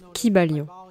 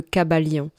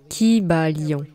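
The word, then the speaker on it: Kybalion: sur cette prononciation et aiment l'appeler le cab à lyon mais je trouve que c'est beaucoup trop anglicisé et je préfère le prononcer comme il aurait été probablement prononcé dans la langue grecque ancienne dans laquelle il n'y avait pas de son y court vous savez il y aurait eu un long son i qui bat lyon et chaque syllabe aurait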